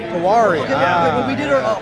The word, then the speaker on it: Tiwary: Tiwary. Tiwary.